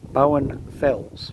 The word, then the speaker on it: Bowenfels: bow and feel fells everybody gets everybody gets the name wrong bowen fells b-o-w e-n-f-e-l-s anyway let's have a